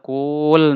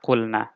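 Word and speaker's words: قل: amrnya menjadi cool Nah kita tidak mengatakan cool nah tidak tapi waunya dibuang sehingga kita membacanya Qul Nah inilah kondisi dari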